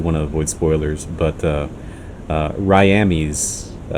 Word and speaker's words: Ryamis: to avoid spoilers, but Ryamis, which I think he said he pronounces his name technically as Ryami.